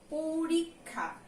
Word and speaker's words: পরীক্ষা: তারপরে এটা কি দেয়া আছে, যেটা লেখা আছে পরীক্ষা, কিন্তু আমি এটার উচ্চারণ কি করি, পরীক্ষা। আর যুক্ত খ থাকলে সেটা কিন্তু ক যোগ খ উচ্চারিত হয়। পরিক, এই পর্যন্ত একটা উচ্চারণ, তারপরে এটা হলো খা, পরীক্ষা।